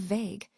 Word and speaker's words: vague: The silent u in this word helps give it that soft, unsure sound, matching its meaning.